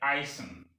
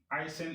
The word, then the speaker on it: Eisen: Now the EI, which is pronounced I, example in height. There are so many words that bear the EI, like Eisen. Eisen is iron, iron, metal.